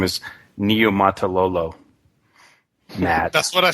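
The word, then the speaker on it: Niumatalolo: And by the way, the proper pronunciation of his name is Niumatololo.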